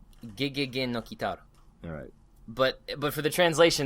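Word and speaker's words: ゲゲゲの鬼太郎: Tooch, what was the, how do you actually pronounce the name? Gegege no Kitaro.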